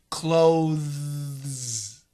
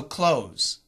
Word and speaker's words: clothes: c t h s the th is actually a vibrated th clothe clothe and that